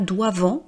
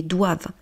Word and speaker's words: doivent: Et encore une fois pour la prés pour la prononciation c'est pas doivant mais doivent. J'insiste parce que beaucoup de gens utilisent de plus en plus les intelligences artificielles et les intelligences artificielles, elles disent doivant.